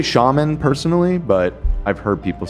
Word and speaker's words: shaman: I think you can pronounce it that way. Yeah, shaman. I'm one of the first ones to always call out Ethan's weird pronunciation, but I think that's a valid That's the way correct to say pronunciation. Nah. Most people say shaman, but that's Shaman.